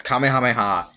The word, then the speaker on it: Kamehameha: It's Kamehameha and you can't f you cannot say it's not. I'm sorry. It is the only correct pronunciation of that.